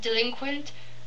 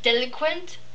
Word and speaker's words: delinquent: than they're supposed to like for example the word delinquent i always used to say deliquent and i thought that was a really cute word you know delhi deliquent uh but um my mom heard me say it once and she's like you don't pronounce that like that uh yeah so it's